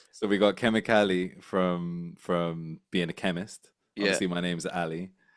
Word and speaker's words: kemikali: So we got Kemikali from being a chemist. Yeah, Obviously, Um, I'm from East Africa, Tanzania, Kenya, yeah. and chemicals in Swahili is kemikali, this the same way it's spelled.